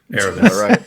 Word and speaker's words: Eramis: Eramis.